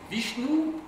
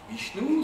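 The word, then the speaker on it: Vishnou: sud de l'Inde avec deux divinités qui dominent, Vishnu et Shiva. Bichnou, c'est V i S h ou N O U.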